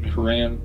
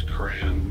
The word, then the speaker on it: Quran: Quran I never Quan Quran am I saying it right is it Quran or Quran I think it's cran but I never read it